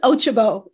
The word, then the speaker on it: Ochigbo: company she's a ceo uh and uh ochiba is here on this afternoon did i do it right yes you pronounced it right you all know me